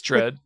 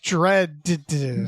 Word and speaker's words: Dredd: Yeah, you don't normally hear the second D pronounced. Judge Dredd. Judge Dredd. Dredd. It's a real heavy D.